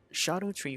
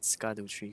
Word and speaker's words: Scadutree: I used to call it Scaduchi fragments, but apparently it's pronounced as shadow tree fragments.